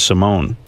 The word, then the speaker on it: Simone: It says Simone. It's with an E. They pronounce it Simona.